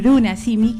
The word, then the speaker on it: Runa Simi: Pero como bien dice acá mi compañero de entrevista, el idioma por naturaleza, el Bruna Simi, que es así como se pronuncia, ¿no es cierto?